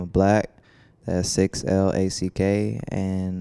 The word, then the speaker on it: 6LACK: by the name of black 6l ACK and no matter what you think it's still pronounced black yes people still mispronounce